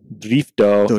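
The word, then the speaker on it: ドリフト: The 2-3 drift team. Drifto. He actually was telling me the other day that in Japanese they pronounce it differently. They do, and it's a drifto, not drift.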